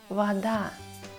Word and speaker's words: вода: Но если О без ударения, мы читаем ее как А. Например, вода.